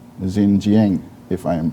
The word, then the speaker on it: Xinjiang: the people of east turkestan which china call xinjiang if i am pronouncing it correctly sister tunisia uh can you